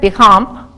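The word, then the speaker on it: Béchamp: the germ Theory Pierre bicamp I probably said that wrong you're not supposed to pronounce the the p in in French these good bugs these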